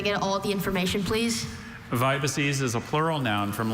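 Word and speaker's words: vibices: Vibaces is a plural noun from Latin. It means linear subcutaneous extravasations of blood. Vibaces. Vibaces. Vibaces. Vibaces. Could I get, are there any alternate pronunciations? No, just vibaces.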